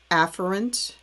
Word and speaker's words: afferent: new word for you afferent division it's actually pronounced um afferent and the other one's pronounced efferent but i'm